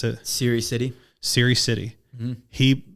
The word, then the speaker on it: Serhiy Sidey: How do I pronounce it? Serhiy Sidey.